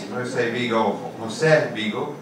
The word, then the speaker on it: José Vigo: My name is José Vigo, pronounced in Spanish.